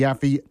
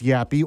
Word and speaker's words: Yaffee: Sometimes I have to spell it because people still think it's Yappy or they know it's Yaffy, but they still don't know how to spell it, which I don't blame you.